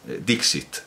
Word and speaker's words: dixit: un he dicho y bueno dic sino dixit dixit porque estaba citando las